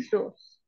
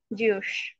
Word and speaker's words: zoos: is a collection of many big zoos mispronounced at your peril as ju like a zelot who